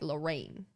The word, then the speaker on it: Lorraine: But Lorraine, I'd pronounce like Lorraine, like rain at the end.